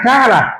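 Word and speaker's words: קָרָא: Por ejemplo, proclamar es una palabra hebrea que se pronuncia cara, así como se oye.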